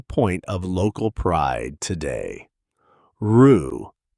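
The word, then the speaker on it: roux: Rue is a French loan word, a butter and flour base for cinjun and creole cooking. And it's pronounced with the tense back vowel uh uu as in boot.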